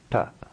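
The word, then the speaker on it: ट: Ta. Ta. The tongue is further back then we would be accustomed to be pronouncing a similar T sound in English. So don't confuse this with the English T.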